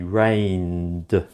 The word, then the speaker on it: rained: rain that's it rain because n is making a voiced consonant sound therefore e d at the end sounds like du the correct pronunciation will be rained how about this one